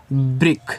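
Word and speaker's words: brick: ठीक है, तो बी आर आई से, यानी कि बी आर से ब्रा हो गया, और आई से छोटी की मानता ब्री, यहाँ आपको सी और के को अपना का पढ़ना है। ठीक है, आपका ब्रिक हो गया।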